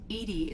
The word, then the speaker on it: EDI: are you named Edie Edie is the phonetic pronunciation of EDI um where are you